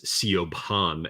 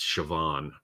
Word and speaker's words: Siobhan: think it's Gerard Gerard I believe but they've pronounced geroid well it's one of those things like you know you think it's CEO pawn and it's Siobhan right you know so it's all that um